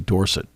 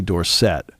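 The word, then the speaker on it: Dorsett: first couple of years it was Tony dorson it mhm right and he said no it's Tony Dorset the last couple of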